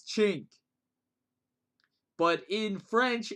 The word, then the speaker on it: cinque: See, this is how I learned chink. But if it's French, see, I learned the Italian pronunciation for this word, which is chink. But in French, which is where Don is from, it's sank. Apparently.